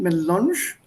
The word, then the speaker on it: Melange: Café melange, you see here the pronunciation, melange. Here. Melange, on the A there is this sign, tilde, this is that en.